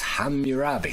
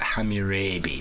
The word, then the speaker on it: Hammurabi: So it could actually read like hamabi because it's a capital A. So ham is not how you pronounce it.